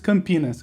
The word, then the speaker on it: Campinas: is called campinas right campinas you say it like this i put it in chat there uh but when we say it it seems like two words can penis what does it remind